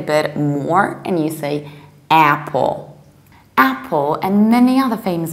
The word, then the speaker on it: Apple: another very popular word I've heard different versions I've heard April I pull somebody even told me that they say I pull because I pull produces iPhone so that was the logical correlation I'm very grateful no we say simply Apple Apple exactly like a name of a shrews Apple very broadly open Mouse Apple and the American accent